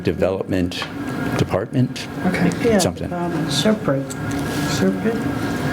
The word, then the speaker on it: SRPEDD: Serpent. I never hear the D sound at the end.